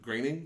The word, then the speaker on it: Groening: Groening? Yes. There's fucking Germans. I know, it looks like Groening, but it's Groening.